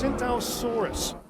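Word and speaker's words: Tsintaosaurus: told it's called it's synthosaurus the t is silent like the pee in swimming yeah and it has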